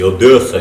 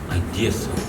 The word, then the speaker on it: Одесса: Не Одесса, не Одесса, Одесса, а Одесса. Мягко, так, с придыханием.